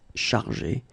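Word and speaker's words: chargés: In both cases, you don't pronounce and you don't pronounce s, so it will go like chargé.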